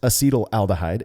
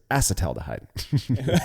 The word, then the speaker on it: acetaldehyde: So next off flavor that we're going to talk about, you already mentioned it once, Cade, is acetaldehyde, which is not pronounced acetaldehyde. It is acetaldehyde.